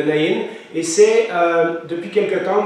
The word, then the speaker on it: Naïn: la veuve de Naïn parfois c'est écrit né parfois c'est naïenne je vais me prononcer à l'hébreu donc c'est la ville de Naïn et c'est depuis quelques